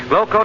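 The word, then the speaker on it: Glo-Coat: Glow Coat is spelled Glocoat.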